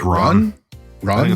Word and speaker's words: Ran: Come back for Ron or Ron. Just say it like you're saying the name Ron. Like a guy named Ron. Just pronounce it like that. Ron. Like Ron. Ron. Like a soft a, not ran.